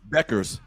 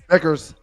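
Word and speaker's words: Bueckers: Beckers. Beckers.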